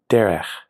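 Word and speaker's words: דֶּרֶךְ: The word for way is derech.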